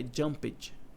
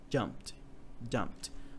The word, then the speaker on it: jumped: Não é jumped, é jumped. Pô, né? Então quer dizer que a maioria das vezes, ou quase todas, o E não vai ser pronunciado?